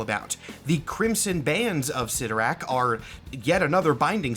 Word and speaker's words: Cyttorak: There seem to be multiple official pronunciations of this entity's name. Different Marvel media has used both Cyttorak and Cytorrak at different times. I'm saying Cyttorak in this video because that's more common among fans, but technically either is correct.